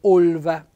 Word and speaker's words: olva: quando vogliamo dire genona olva noi diciamo olva cioè n gò proprio piene le tasche Può darsi che sia un po' il corrispettivo di Olma Però noi lo diciamo con la o chiuso olva il palamai è il